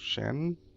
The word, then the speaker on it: Zhen: His name is pronounced Shen?